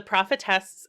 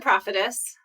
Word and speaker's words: Prophetess: time we podcasted together, The Prophetess is now, I'm putting the accent on the wrong syllable, aren't I? How do you say it? I would say The Prophetess.